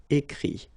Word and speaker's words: écrit: IRE here, IT, but then phonetically it's I as well because you don't pronounce the final T, okay. Écrire, écrit.